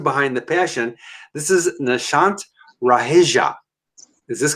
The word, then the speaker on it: Nishant Raheja: This is Nishant Raheja. Is this correct? Absolutely correct. Really, I got it right. Nishant Raheja. Pronounce it Exactly, for that's me.